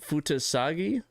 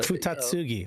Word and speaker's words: Futatsugi: Yuko Jo sorry Joe's the other person that pronounced it on the other show uh Dave was it Yuko futagi Fugi where are you even seeing that uh futatsugi futatsugi Yuko futatsugi and his team took advantage